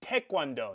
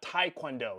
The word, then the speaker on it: Taekwondo: Also, side note, it's Taekwondo, not Taekwondo. It's spelled T-A-E, Tae.